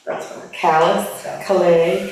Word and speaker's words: Calais: Oh yeah, it's pronounced callus. That's fine. Callus, Calais, It's Calais, Maine.